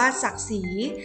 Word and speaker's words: ศักดิ์ศรี: ต่อ มา ค่ะ คำ ว่า ศักดิ์ศรี อ่าน ว่า ศักดิ์ศรี ศักดิ์ศรี มี ความ หมาย ว่า เกียรติศักดิ์ หรือ ความ